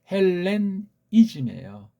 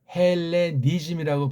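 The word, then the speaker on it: Hellenism: 개입되 있고 또 하나가 헬렌이즘이에요. 헬레니즘이라고 발음하면 안 되잖아요. 헬렌이 이즘이라고 발음하는 것이 맞죠? 아 그래야 구분이 되잖아 일단.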